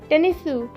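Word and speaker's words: テニス: It's tennisu.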